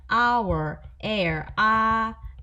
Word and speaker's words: hour: on hour on air 스펠링으로 보면 h예요 자음인데 h가 다 묵음입니다 소리가 안 난다는 뜻이에요 아까도 말씀드린 것처럼어나 어는